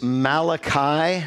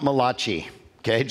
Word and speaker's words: Malachi: first thing you need to know is it's Malachi not mulashi gauge so that's the first thing let's pronounce it right I'm gonna yeah it's it's